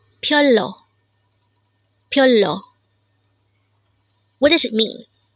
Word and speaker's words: 별로: Again, BYEOLLO. This is pronounced as a two-syllable word. The first syllable is BYOL, second syllable is LO.